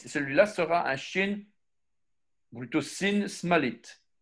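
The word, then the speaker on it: שׂ: Alors, l'autre, c'était Yemalit, celui-là sera un Shin, plutôt Sin Smalit. Shin de gauche se prononce comme notre S.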